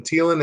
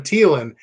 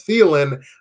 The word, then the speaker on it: Thielen: to come so Adam Thielen number 28 on and if you pronounce it Ceylon I think you're wrong but that's okay there